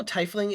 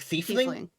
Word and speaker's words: tiefling: Is that how tiefling is pronounced? I thought it always had the same. Always said it the same as thief, like thiefling.